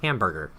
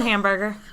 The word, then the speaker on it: Hamburger: Denmark named Dr Christian hamburger I think it's pronounced like Hamburg or something like that but I like hamburger